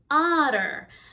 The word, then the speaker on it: otter: h is silent whale otter the two t's in the middle sound like d they don't sound like a ter we say utter otter like a d shark shark